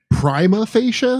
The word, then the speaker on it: prima facie: that that's all e it's like a long e oh really hmm I'm